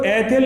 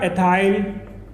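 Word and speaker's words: ethyl: तो कंफ्यूज नहीं होना, कहीं पर मैथिल भी हो सकता है या मिथाइल भी, तो बाकी स्पेलिंग सब वही है, बाकी पढ़ने का अलग तरीका हो जाता है, मैथिल या मिथाइल, एथिल या एथाइल, ओके।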